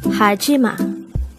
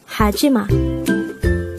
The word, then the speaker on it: 하지마: word number 102 haima haima and this is pronounced as a three syllable word the first syllable is